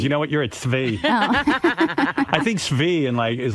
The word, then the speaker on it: Tzvi: T-Z-V-I? Tzvi.